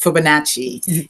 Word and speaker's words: Fibonacci: It's called the Fabioni. Oh, I can't remember exactly how you say it, but it's a special numbering design. And as you know, Fibonacci. Thank you. That's it. Fibonacci.